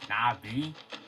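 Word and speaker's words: Na'vi: Also, Navi is pronounced Navi.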